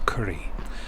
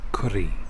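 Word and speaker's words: Currie: of edinburgh in a village called curry roughly the same pronunciation as for food dishes but a different and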